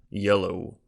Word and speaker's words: Jello: by gladys's Alter Ego Jello yeah pronounced with a soft J if I recall yellow Berkeley corresponded didn't she